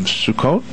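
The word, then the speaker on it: Sukkot: uh I'm going to take a shot of pronunciations the Jewish holidays of sukot correct that's wow wow I got it and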